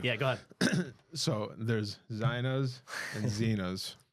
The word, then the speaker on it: Zeina: Yeah, so the correct pronunciation is Zeinas, but I won't correct you if you say Zeinas.